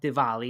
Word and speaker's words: Diwali: It's actually called Diwali, is what the Indians pronounce it.